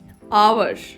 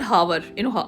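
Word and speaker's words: hour: honest vowel sound है आवर नॉट हावर H pronounce हुई नहीं एन आवर आई विल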